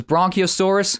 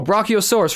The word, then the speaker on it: Brachiosaurus: What is this, Bronchiosaurus? If I remember. I used to be a huge fan... I mean, oh, Brachio? Is that how you say it? Oh, Brachiosaurus right there, okay.